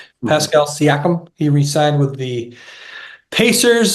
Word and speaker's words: Siakam: Siakam. Pascal Siakam.